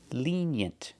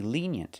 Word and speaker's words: lenient: opposite of strict pronunciation lenient the first vowel is a long e like green beans Li lenient we have the e sound like yellow and yesterday we have the short e sound like eggs and bed together lenient put the stress on it first syllable lenient lenient so to describe a